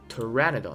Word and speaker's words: Pteranodon: ？Pteranodon 啊，P 是不发音的是吧？Pteranodon 还真是吧？Pteranodon 翼龙属是吧？无齿翼龙啊。Pteranodon。来，这里总算对话了是吧 Hey, sweetheart.